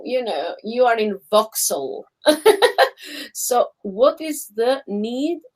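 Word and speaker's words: Vauxhall: yeah yeah you're in voxel you know it's voxel i'm in vaujal because in albania as you hear the words that's you you pronounce like kind of letter by letter we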